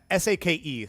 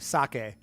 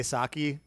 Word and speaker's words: sake: S a ke sake for I don't know why English speakers say saki. I don't understand where that came from, but yeah, it it's sake.